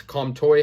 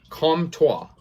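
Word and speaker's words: Comtois: a goal uh max calm toy had a goal and can't come trois sorry uh i stand corrected on that pronunciation these hockey names are impossible to pronounce com tua there you go he had a goal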